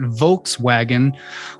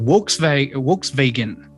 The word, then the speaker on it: Volkswagen: languages they pronounce it works vegan you know so the the v and the w enunciation is inverted the w is pronounced as a v and the v is pronounced as a w because of this um